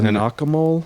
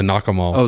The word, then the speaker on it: nakamal: it was called the nakamal uh it's the nakamol the nakamal so in mars yeah in vanuatu uh kava clubs are called nakamals n-a-k-a-m-a-l yeah i was